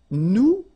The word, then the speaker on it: nous: Okay, and then for nous, it will be, so if you remember correctly, so final S is not pronounced here.